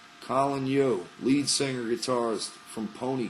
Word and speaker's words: Yeo: usual and Colin yo spelled Yeo and it's pronounced yo Colin yo lead singer guitarist from